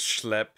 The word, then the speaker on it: Schlep: It's pronounced Schlep.